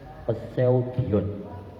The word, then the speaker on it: Poseidon: Bacanya apa ya mas? Poseidon, Poseidon dikena tulisannya Poseidon.